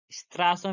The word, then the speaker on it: Straße: Straße means street. Here STRA, in English we can say it like STRA double SE, Straße. But in German we say like Straße, Straße, double S, estate.